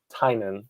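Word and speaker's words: Tynion: it holds up um james uh tinian or how do you pronounce it i uh i watched the interviews with the rip yeah he he pronounced it tynan so yeah but you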